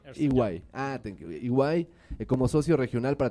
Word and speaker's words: EY: Se unió a ¿cómo lo pronuncias? EY.